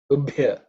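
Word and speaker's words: उभ्य: Ubhya, okay, that's the fourth letter in the pa varga, so it has to be aspirated.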